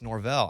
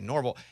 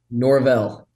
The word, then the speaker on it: Norvell: And they were like, no, it's Norvell. I said, well, I'm from Arkansas. We would say Norvell. How do you say your last name? Norvell.